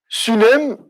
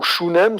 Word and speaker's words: Shunem: Sunem, ou Shunem, selon la prononciation hébraïque, était une bourgade entre le Carmel et Samarie.